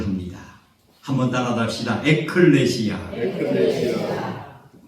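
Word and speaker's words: ἐκκλησία: 발음을 합니다 한번 따라합시다 에클레시아 에클레시아이 교회를 헬라어로 에클레시아라는 발음을 하는데이 에클레시아를 이제 원느 성경에서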